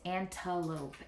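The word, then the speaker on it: antelope: that word is an because when I say this last part we know this is a long o right because it's a v c e pattern that word is antalope antalope antalope um which is why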